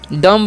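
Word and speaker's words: dumb: एम बी तो इस लोग पढ़ते हैं डम डम नहीं क्या पढ़ते हैं डम पढ़ते हैं और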